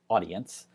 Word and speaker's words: Audiense: And now we're going to go to a tool called Audience. That's spelled A-U-D-I-E-N-S-E.